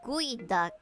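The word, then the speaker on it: geoduck: It's actually pronounced gooey duck. Dumbest name / spelling combo.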